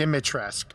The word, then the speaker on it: Dimitrescu: Dimitrescu. Okay. Speaking of the U is silent.